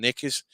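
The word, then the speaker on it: knickers: say panties rather than nickers and you spell nickers wrong it's it's got K in it it's got silent k nickers yeah yeah K it's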